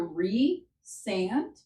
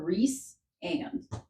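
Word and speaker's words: Rhysand: So, it's either re sand or reand. I say re like Reese as in like a Reese's Reese's Pieces. Can I just Can I just So Reand and then some people may pronounce the first part Ry or Rice.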